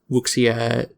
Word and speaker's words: wuxia: Oh, by the way, the term is pronounced wuxia. So Wuxia. anytime Thank you. X in pinyin, like Chinese pinyin, is always pronounced like sh in English.